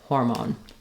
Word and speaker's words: hormone: but in hormone just make sure that you're not letting it become an R sound you don't want har hormone but rather hor hormone then for testosterone our